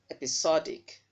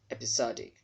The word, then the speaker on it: episodic: do that you're wrong episodic because this syllable that is having letters s o is stressed so that letter O there will sound as aw episodic hypnotic not hypnotic hypnotic